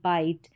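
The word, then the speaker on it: bite: तो यहां पर देखिए सबसे पहला जो स्पेलिंग पैटर्न है जैसे कि कहीं पर आई टी ई ये आईट आ जाए यानी इस आई टी ई को हम आई करके पढ़ते हैं।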